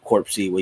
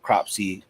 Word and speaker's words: Cropsey: I was pronouncing that wrong. I was trying to pronounce Corpsey, even though that's definitely not how it was spelled at all. My own bad. For some reason, Corpsey just sounded more scary to me, but Cropsey is definitely what they had.